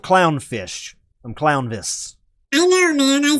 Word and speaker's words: Clownvis: Merry Christmas, Clownfish! I'm not Clownfish. I'm Clownvis.